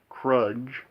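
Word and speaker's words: Kruge: And, of course, we also, in this movie, have Christopher Lloyd as the Commander Klingon of this movie, Krudge.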